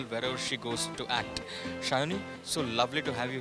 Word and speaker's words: Sayani: Shayoni, so lovely to have you here at India Web Fest 2019 Season 2. How does it feel to be here? It feels good because you pronounce my name correctly.